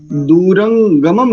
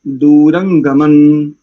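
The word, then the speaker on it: दूरंगमम्: आप दूसरे में आ जाइए, दूरंगमम नहीं करेंगे, दूरंगमन, दूरंगमन ज्योतिषान ज्योतिरेकन। तीनों स्थानों पर नकार उच्चारण कीजिए आप, बिल्कुल शुद्ध उच्चारण आएगा।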